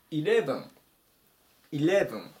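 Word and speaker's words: eleven: 行きます 110 番イレブイブ数字の 11 ですね強く読むのがこの例の部分になりますイブ 11 番目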